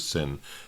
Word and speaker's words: Sin: called the wilderness of Sin. That name Sin, by the way, has no theological significance. It's just an ancient term for that area that phonetically to us sounds like the word sin.